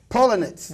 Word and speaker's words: Poellnitz: This way I could try to pronounce it better. Poellnitz. Poellnitz.